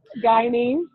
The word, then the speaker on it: Guyanese: And I'm totally going to pronounce this wrong. Guy, how do you say it? Guyanese.